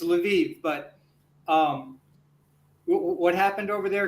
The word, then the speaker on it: Lviv: fact actually true, because Lviv, I would pronounce it Lvov myself. Okay. I think that's a Polish pronunciation, but it's very far into Western Ukraine.